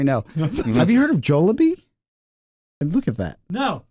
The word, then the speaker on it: Jollibee: you uh forget it you were saying uh jolabi uh Jillian white but she says uh she